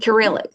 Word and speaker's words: Cyrillic: Cyrillic.